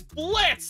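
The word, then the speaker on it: Blitzø: there is something that Blitz it's Blitz the O is silent okay Je pleas lit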